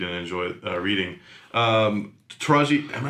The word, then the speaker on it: Taraji: like to read and enjoy uh reading um taraji am i saying it right yes she's fantastic